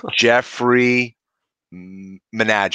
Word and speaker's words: Jeffrey Menaged: have a very special guest today I'm gonna pronounce his name because my brother was botching this before the intro Jeffrey Minaj it right okay welcome Jeffrey yes I we